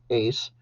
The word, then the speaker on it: es: not seen until today so those are pronounced soy eres ace somos sois son and the verb has a